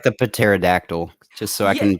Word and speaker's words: pterodactyl: So, and I was like, I was like, the P is silent.